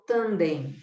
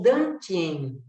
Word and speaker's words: Dantien: oriental, pessoal do Reiki, esse é o Tanden, ou Dantien, que é o chinês que pronuncia assim, ou para nós o Hara, ou para o japonês o Hara.